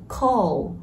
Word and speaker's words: call: Wise man, call, có đọc là con mà là call.